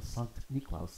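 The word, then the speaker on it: Sankt Niklaus: like what we call Santa Claus which comes from Sonic niklaus the German pronunciation of Saint Nicholas but more than that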